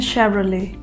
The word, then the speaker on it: Chevrolet: ठीक है, हमारा अगला ब्रांड है ये, और इसे हम प्रोनाउंस करते हैं शेवरले।